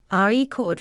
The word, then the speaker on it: record: stress pattern for example the word record changes meaning based on stress re e cord refers to something recorded